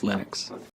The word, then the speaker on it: Linux: english it's Linus and I really don't care how people browse my name but Linux is always Linux the initial go was